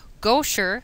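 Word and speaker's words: Gaucher: about 21 but tasac disease canovan Neeman pick goer I finally found the right way to pronounce it familial disautonomia Bloom syndrome con anemia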